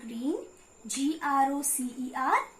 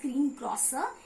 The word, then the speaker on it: greengrocer: R double e and green G ro c ER broseph greengrocer it is not pronounced as green prosper it is rather and pronounced as green grocer okay please repeat g